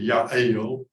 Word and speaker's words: Jael: He goes and is hidden out in a tent by a Jewish woman whose name is hard for most of us to pronounce. Jael, Hebrew would be Yael.